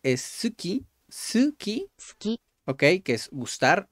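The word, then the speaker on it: すき: vamos a continuar gustar suki suki Ok Ok casi no se pronuncia la u Pero bueno pongo suki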